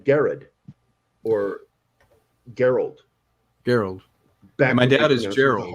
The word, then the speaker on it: Gerald: Gerald. Back my dad is Gerald. The hard G. Yeah, it wasn't until the 20th century when they changed that to a soft G.